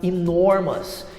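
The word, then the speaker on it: enormous: O mesmo acontece para enormas e o mesmo acontece para fabulas.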